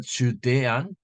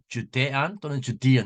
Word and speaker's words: Judean: with his disciples into the Judean 또는 Judean 이렇게 발음하죠.